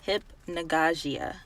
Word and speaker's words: hypnagogia: how you pronounced okay so you say like hypnagogia or hypnagogic okay so this is